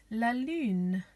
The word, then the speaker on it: lune: Next we have the moon, which is called La Lune, La Lune, La Lune.